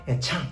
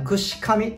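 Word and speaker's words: 具志頭: この頭とかいて、まあ、その方言読みでねぐしちゃんと読みます。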